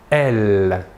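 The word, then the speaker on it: elles: du pluriel est « elle ». Même chose que pour le masculin, la S finale ne se prononce pas.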